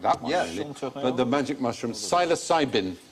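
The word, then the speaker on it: psilocybin: but the magic mushroom silos cybin a silent P syosin interesting experiments been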